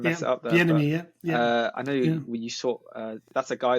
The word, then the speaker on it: Bieniemy: Is that how you pronounce his name? Sorry, I don't want to mess it up there. Bieniemy, yeah.